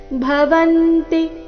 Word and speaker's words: ಭವಂತಿ: ಗಮನ ದಾನೈ ಯಶೋ ಯಶಃ ಭವಂತಿ ಈ ಶಬ್ದದಲ್ಲಿ ಎಲ್ಲಾ ಅಕ್ಷರಗಳು ರಸ್ವ ಭವಂತಿ ಮುಂದೆ ಎರಡು ಶಬ್ದ